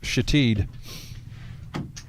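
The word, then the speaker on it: Shithead: Well, it's spelled S-H-I-T-H-E-A-D. Ah. And cleverly pronounced Shatid.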